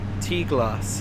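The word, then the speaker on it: Tŷ Glas: The next station stop is Tlass. Tlass is how you pronounce it.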